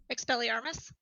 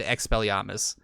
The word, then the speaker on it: Expelliarmus: Oh, Expelliarmus.